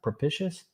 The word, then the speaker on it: propitious: How do you pronounce that? Propitious to his children.